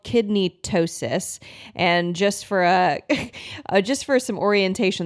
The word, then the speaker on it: ptosis: There's something called kidney ptosis, and just for some orientation, the first time